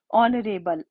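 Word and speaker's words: honourable: ऑनरेबल, एच हमारा silent है, sound हमें ओ की आ रही है।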